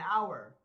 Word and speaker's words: hour: Oh, an hour because the H is silent.